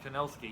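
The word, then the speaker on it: Kinnosuke: You have at the beginning, you have your love competition with Kinsuke. Is that how you pronounce his name? Or Kinosuke. Kinosuke, yeah, Like it's like Inosuke except with a K.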